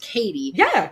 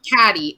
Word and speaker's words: Cady: 1 billion times, and so I know that is pronounced Katie, not Caddy.